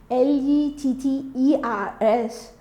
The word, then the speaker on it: letters: Though I say the spelling of the word letters is Letters, but when you pronounce it, it should give us, the double T will give the sound of D, short D. So it's letters.